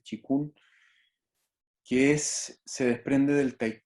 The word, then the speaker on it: qigong: Y el chikun, que se escribe qigong, pero se dice chikun, que se desprende del tai chi y es como la versión terapéutica del tai chi.